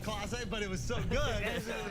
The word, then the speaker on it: Clase: He said Casa, not Clase, but it was so good. It was You so got it. good that you do look like a bottle of Clase Oh Azul, my dude.